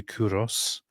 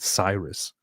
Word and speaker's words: Cyrus: So in Greek, it's actually Kuros. In Latin, it was adopted as wait, what is it? Into Latin, it was adapted as Chiros or Kiros, and it's just because of the stupid English pronunciation of whatever starts with C that we change it all into a different weird pronunciation. It's actually a very, very recent corruption that in English we just took this whole thing and started calling it Cyrus.